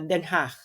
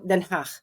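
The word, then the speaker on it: Den Haag: sa Denhach so ngayon yun ang pronunciation na Denhach so Denhach so so just feel like you are expelling flam very lightly and very um soft then ha ganon So magkaiba yung Dutch diyan yung Amsterdam yung Dahig Dutch.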